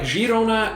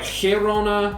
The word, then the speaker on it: Girona: The Catalan spelling for the city is Girona with an I, while the Spanish spell it Girona with an E and pronounce it differently. In Catalan, it's more like Girona.